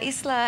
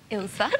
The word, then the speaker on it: Ilse: to toot your horn a little bit now Isa has been described my goodness my sincere apologies we were having a joke earlier on the show that pronunciation it's not just me ilsa okay so you have been described as